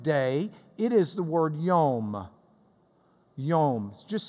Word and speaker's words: yom: It is the word yom. Yom. Just say yom with me. Yom. We would spell it Y-O-M.